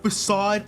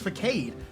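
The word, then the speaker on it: façade: For the longest time, I thought it was pronounced facade. How the fuck was I supposed to know it's pronounced facade? How was I supposed to know? How? How was I supposed to know it was pronounced facade? It's supposed to have the fancy E.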